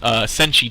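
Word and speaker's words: Senche: And the Senshi Tiger mount, or Sench Tiger, I've heard it pronounced both ways, is coming out March 16th as well, I believe.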